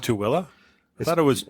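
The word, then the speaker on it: Tooele: whole another town in between them called It's pronounced TOA I thought it was Tuli depends on where you're from if we're going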